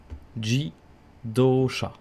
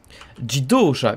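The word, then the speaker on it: 自動車: certain qu'ils trouvent c'est ça jy d'eau chat ji doshas on va écouter sa prononciation l'automobile se dit en japonais guy d'auchan jidosha qu'est ce que je dis tauch à jeudi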